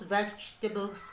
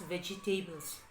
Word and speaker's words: vegetables: to do with those vegetables grazie as the cook vegetables don't pronounce vegtables it should be vegetables okay scraps means no